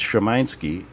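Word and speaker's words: Szymański: And in Polish, it's Szymanski.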